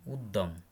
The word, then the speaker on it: উদ্যম: শব্দের মাঝখানে সঙ্গে যুক্ত থাকলে ওই বর্ণের উচ্চারণ দ্বিত্ব হয়, যেমন উদ্যম, গদ্য ইত্যাদি। র বর্ণের উচ্চারণ, তবে র ফলা হিসাবে এর উচ্চারণে বৈচিত্র্য আছে।